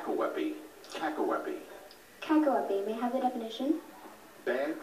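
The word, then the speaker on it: cacoepy: who most deserve it win T wey kaky Kaki may have the definition bad pronunciation Kaki c a c o e p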